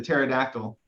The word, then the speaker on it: pterodactyl: Why is it that you can't hear the pterodactyl use the bathroom? It's because the P is silent.